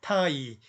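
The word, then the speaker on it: 太: 자, 태자 같은 경우는 풀어서 읽어줬죠. 타이.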